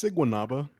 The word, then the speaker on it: Siguanaba: Yeah, it's Siguanaba, Siguanaba?